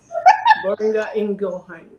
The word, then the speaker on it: Boehringer Ingelheim: So Yes, it's that was Boehringer Ingelheim.